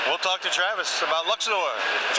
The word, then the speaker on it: Luxor: Luxor, Queen Games.